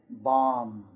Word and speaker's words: bomb: For example, climb, comb, thumb, and bomb. The B is silent there.